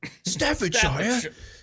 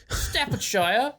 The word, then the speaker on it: Staffordshire: I I think I think the only way to pronounce it was to actually bring out the British accent. Staffordshire Staffordshire.